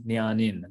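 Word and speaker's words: jñānin: So you see, jna plus in becomes nyanin.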